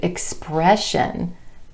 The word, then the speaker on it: expression: Same thing with the SION ending as in the word expression. Expression. You can hear the emphasis on the E vowel sound in the syllable right before the SION ending.